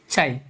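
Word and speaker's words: chi: चाई। ओके, चाई।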